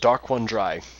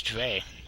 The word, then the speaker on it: Daronedrei: It is pronounced Dark One Dry. Dry. Whoa. Shout out to Haxatronic for getting that wrong. Yeah, I thought it was Dre.